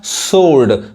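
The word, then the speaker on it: sword: ये क्या पढ़ाए का सोर्ड सड यानी डब्लू नहीं पढ़ाए समझ में आ रहा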